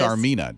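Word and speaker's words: Tsarmina: Sarmina. Did you say it right? Sarmina, but Okay. it's spelled like the Tsar of Russia, Tsar.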